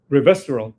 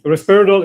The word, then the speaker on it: resveratrol: Can you say it again? Resveratrol. Yes. That. Mhm. Respiridol is a antipsychotic. I was Okay. gonna say, that's what I'm thinking. So Yeah. I mispronounced it. Yeah. And you have it right.